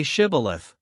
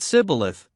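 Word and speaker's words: Shibboleth: to let none pass who could not say Shibith. The Ephromites being of a different tribe could not frame to pronounce the word right, but called it cibilith, which proved them enemies and cost them their lives.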